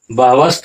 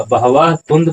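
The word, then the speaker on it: बहवस्तु: इष्ट लाभ श्रुत्वा अब यहां होगा बहव बहवस्त नहीं होगा बहवा तु पर मिजा बहवा तुंद पर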